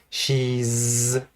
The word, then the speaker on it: she's: She's, again, long e and a z sound.